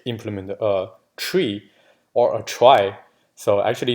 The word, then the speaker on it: trie: guess but you know people who don't pronounce it as a tree because you will be confusing whether it's a tree like doing me actually a tree or prefix tree so normally we just pronounce little try anyways minor details so